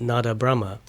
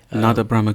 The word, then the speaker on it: Nada Brahma: And so what our company has done, Nada Brahma. Nada Brahma, could you please just pronounce that again?